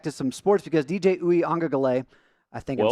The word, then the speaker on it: Uiagalelei: It's Uiagalelei. DJ Uyunglele. Yeah, you're pronouncing you made the mistake of pronouncing done, every David.